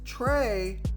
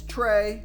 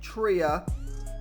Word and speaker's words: Trea: It's pronounced Trey. Come on, Chris. And you know what? You're right. That was pretty bad. It is Trey. It's not Tria.